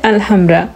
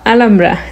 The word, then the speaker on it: Alhambra: গ্রানাদার প্রধান আকর্ষণ হচ্ছে আলহামরা বা আলামরা। যেহেতু স্প্যানিশ ভাষায় আপনার এইচ উচ্চারণ করা হয় না তাই আলামরাই বললাম।